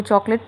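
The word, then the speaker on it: chocolate: तो हाजिर हो वो लोग जिनको चॉकलेट पसंद है। क्या चॉकलेट? The word is चॉकलेट। नॉट चॉकलेट। There are only to syllables.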